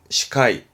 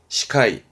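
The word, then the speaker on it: 司会: 발음은 시카이, 시카이.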